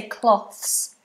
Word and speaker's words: cloths: for washing the dishes we would just say cloths cloths so different to clothes because clothes is voiced but the same positions